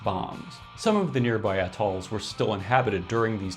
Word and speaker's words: atoll: Atoll, stress on the first syllable."